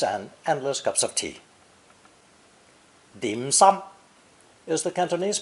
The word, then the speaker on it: dim sum: and savory pastries and endless Cups of Tea dim sum is the Cantonese pronunciation of Mandarin shin changing my mouth Waters